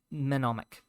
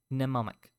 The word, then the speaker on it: mnemonic: root as the word monomic oh mnemonic DM is silent in a bag her